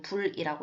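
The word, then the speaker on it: 不: 자, 그 다음 계속 이어서 이 디귿, 지읒 이외의 경우에는 어떻게 읽어요? 불이라고 읽는다. 우리가 원래 알고 있는 불이라고 읽는다는 거죠. 그래서 여기에서는 니은으로 시작했어요. 그래서 디귿과 지읒 그 이외의 첫 소리이기 때문에 여기서는 원래대로 불이라고 읽었다라는 거예요.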